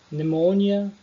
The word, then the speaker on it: pneumonia: Enfim, percebam, eu não pronunciei pneumonia, é pneumonia. Psychology, eu não pronunciei psychology. Também não pronunciei pterodactyl, é pterodactyl. Beleza?